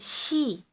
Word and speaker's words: 시: In this you will find cities, si, pronounced she, towns, eup, and villages, ri, or li, with the larger cities split into a number of gu, or wards.